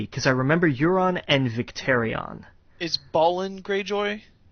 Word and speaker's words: Euron: Get over it, it's pronounced Euron.